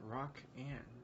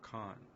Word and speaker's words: Rakan: It's like Rakan, like Ra, not Rock Ann.